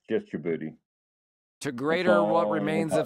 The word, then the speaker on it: Djibouti: Somalia, Djibouti, is that how it's pronounced? Somaliland and northeastern province in Kenya that belong Yeah, it's just Djibouti.